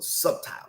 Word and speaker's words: subtle: Fear is the most subtle, or subtile is a better way to pronounce that.